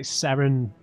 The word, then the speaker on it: Saren: for the Saren to, I know how to say it now. It's like Saren, it's like S-E-R-E-N, not the A, Saren. I think it's because in an American accent you'd say it more like Saren.